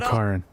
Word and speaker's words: Karen: Karen. That's how you say his name, Karen.